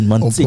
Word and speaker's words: Manseka: On a prononcé comme bien, Mantseka. On prononce très bien.